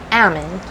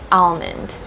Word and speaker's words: almond: eat and consume but almond has an L in it a lot of people like to say Amen so they like to take the L and make it silent but it's actually pronounced almond and so let me